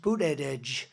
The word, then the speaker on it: Buttigieg: And they said, Edge, the word edge. That's the way it's pronounced, Buttigieg.